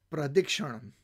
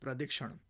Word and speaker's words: pradakshina: In the Indic tradition in Sanskrit, this is called pradikshanam or pradakshina, but it's correctly pronounced pradikshanam.